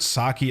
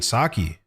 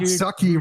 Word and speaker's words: sake: A like a like a Japanese word, bro. It's not It's not English. Not sucky, bro.